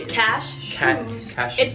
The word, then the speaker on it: cashew: peanut butter yeah cashews cash cashews the emphasis is on the first part yeah the cupped nut